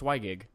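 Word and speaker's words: WiGig: I don't really know how to pronounce it. I think it's Wygig? Yeah, it's Wygig.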